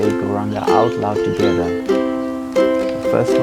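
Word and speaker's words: Gauranga: Mantra we'll be using is Go Ranga mantra. 4 syllables. Go Ra Anga.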